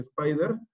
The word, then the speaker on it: SPDR: Uno de los ETFs más conocidos es el SPDR, que se pronuncia Spider, y fue el primer